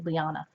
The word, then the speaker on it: Liana: near the Subscribe button but it's spelled l-i-a-n-a so it's hey hey lyanna I also got the